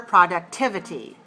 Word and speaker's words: productivity: Some consequences of insufficient sleep are crankiness, loss of energy, and lower productivity. Productivity. How many syllables? Productivity. 5. Where's the stress? 3.